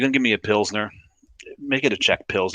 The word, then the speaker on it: pilsner: yes we we've we've we do lessons on the show every now and then between pilsner and pill center and what's got an e what doesn't happen it's not pronounced pill center but it's got the second e in there um after the town pilsen um but yeah i